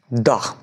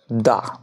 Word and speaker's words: the: যেহেতু পর্বতমালা বলা হয়, অনেকগুলো পর্বতকে একসঙ্গে পর্বতমালা বলা হয়, তখন তার আগে বসবে দা। এখানে উচ্চারণ কি হবে? দা। কেন দা হবে? কেন কি এইচ কনসোনেন্ট।